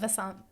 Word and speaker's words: Vasant: Vasant.